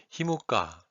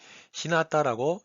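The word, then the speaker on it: 日向: 큐슈에서는 일향이라는 한자를 주로 히무가, 휴가로 많이 읽는데 이 지역만 히나타라고 읽는 곳입니다.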